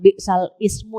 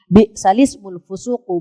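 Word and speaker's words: بِئْسَ الِاسْمُ الْفُسُوقُ: Bacanya bukan bal ismu ya Bu. Bisalis balismul fusuqu baal iman.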